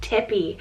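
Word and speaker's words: Tippi: And for another T option, we have Tippy, spelled T-I-P-P-I, Tippy.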